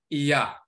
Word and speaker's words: Iah: It's a combination of E and A, Ea, Ea. And this is where you get the Ya sound from.